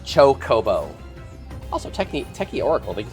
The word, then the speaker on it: chocobo: It is literally pronounced chocobo.